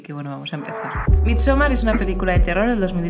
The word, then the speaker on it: Midsommar: ¿Cómo se pronuncia? Midsommar.